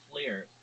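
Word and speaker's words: FLIR: yeah it's called well the camera is called a flare f l i r uh yeah let me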